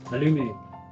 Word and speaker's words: aluminum: you'll feel highly recyclable uh aluminum aluminium just try to pronounce them correctly both in american english and british english i think this color